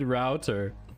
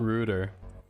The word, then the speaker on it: router: route to the interwebs she said router not reuter but what's interesting here